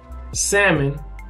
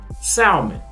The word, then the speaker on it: salmon: and years and years used to pronounce salmon salmon right i used to say hey can i get some salmon right you know the ales will be silent but not for me it wasn't silent so that was confidential